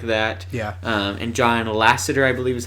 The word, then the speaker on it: John Lasseter: And John Lasseter, I believe is how you say his name, he was kind of stepping aside from Pixar at that time too.